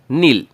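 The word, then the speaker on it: kneel: Next word अपने पास है नील। ये साइलेंट होता है, यहाँ पे ध्यान रखना।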